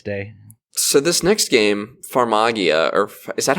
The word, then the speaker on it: Farmagia: Farmagia is how they're pronouncing it.